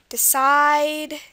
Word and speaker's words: decide: One rule is that most 2-syllable verbs this will happen in most 2-syllable verbs, that the stress will be on the last syllable, just as we saw here. Present, export, decide, begin. These are examples of words where verbs, where the syllable, or the stress syllable is the second one.